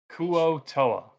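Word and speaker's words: Kuo-toa: this real quick it would it be like a cool tour yeah yeah yeah fish people kuo toa yes um you ever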